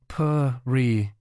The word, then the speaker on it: Parighasana: Parighasana, pronounced Parighasana, literally translates to iron bar used for locking a gate.